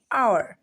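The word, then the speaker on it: hour: honesty honesty हावर ववर नहीं आवर क्या आवर हस्प बिल्कुल नहीं हॉस्पिटल हॉस्पिटल ठीक है तो जब भी आपको कहीं एच के बाद ओ दिखे दोनों एक साथ में दिखे साइड बाय साइड तो आपको क्या करना है एच को कर देना है साइलेंट और हम पढ़ेंगे उसको ऑनर हनर आवर आवर and hospital honesty इस तरह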